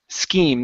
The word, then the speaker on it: scheme: have the word scheme scheme the CH is a k sound scheme schem mhm one